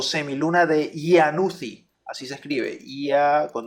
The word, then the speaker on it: Iannuzzi: conoce como la semiluna serosa o semiluna de Iannuzzi. Así se escribe, Ia con doble N, Iannu y con doble Z, Iannuzzi.